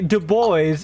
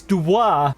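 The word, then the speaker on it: Dubois: Just like you don't say Dubo, it's Dwa.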